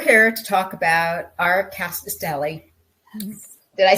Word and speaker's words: Rkatsiteli: So we're here to talk about our Rkatsiteli.